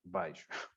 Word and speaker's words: beijo: Em Lisboa diz-se beijo, como se fosse um A, beijo.